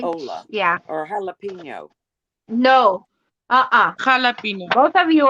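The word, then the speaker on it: jalapeño: But your J Correct. becomes an English H.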